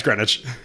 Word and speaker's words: Greenwich: Wait, is actually how do you Yeah, it's Greenwich. Here's the thing. I've only heard seen that word written before. Here's the thing. I said Greenwich as trying to be purposely incorrect and I thought it was green witch.